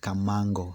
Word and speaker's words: Kamangu: of come come so mango is pronounced as kamango so this area here is called kamango area but it's written as kamangu so awesome and beautiful